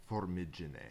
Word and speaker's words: Formigine: We're heading from the town that we're in, which is Formigine. It's pronounced Formigine.